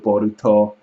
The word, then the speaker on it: Boruto: bolt is actually Balo because of the way it's pronounced in Japanese so it's actually if you spell it out phonetically it's actually one character away from being Naruto Nar Naruto boruto it's one character away